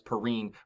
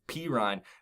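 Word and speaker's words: Perine: to say his name I thought it was Perrine but P Ryan this guy does look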